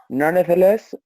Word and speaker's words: nonetheless: Al juntarlas, esa E sigue sin pronunciarse, ¿ya?